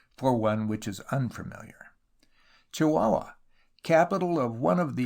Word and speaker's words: Chihuahua: used to write fondly pronounced chihuahua in london but locally chihuahua i broke my journey